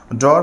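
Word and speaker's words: drew: উচ্চারণটা কিন্তু হবে ব্লু ড্রয়ার পাসপেন্ট অনেকে বলি ড্রিউ কিন্তু উচ্চারণটা হবে ড্রু ড্রাইভ ড্রপ অনেকে বলি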